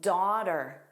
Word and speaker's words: daughter: Daughter, that soft D. Now, you may look at the spelling and notice there's a G-H-T. That's not a vowel, but the rule for pronunciation is always based on sound, not spelling. So the daw is an aw, aw. That's a vowel sound, and then we immediately have the T, and then another vowel sound, My daughter, that's